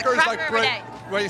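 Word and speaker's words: craic: there we go oh if you hear someone saying what's the crack or it's a cracker of a day crack don't call the Poli don't call don't call the Garda it's c r a i c it's it's like how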